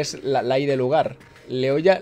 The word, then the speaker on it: Leioa: Leoya, Leioa. De hecho, la pronuncia es exactamente la misma.